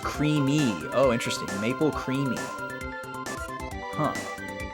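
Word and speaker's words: creemee: It's pronounced creamy.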